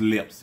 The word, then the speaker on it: LLIPS: time to the channel our channel name is lips it's spelled l l i PS and it stands for